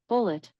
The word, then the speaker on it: Bulleit: According to an Alexa Answers contributor, bullet bourbon is pronounced bullet bourbon.